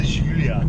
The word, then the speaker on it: Giulia: I'll do you the perfect pronunciation. It's the Guiglietta. It's the Giulia.